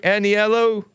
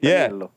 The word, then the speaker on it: Aniello: Am I pronouncing your name right, Aniello? Yeah, hello. Thank you for taking my call. Yeah, it's Aniello. Say it again. Aniello. That's my name.